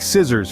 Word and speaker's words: scissors: spelling and pronunciation take scissors for instance the first C is pronounced but the second one is silent or consider muscle where